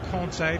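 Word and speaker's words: Kanté: Here's Mount finding Kante. Conte, perhaps we should be pronouncing it.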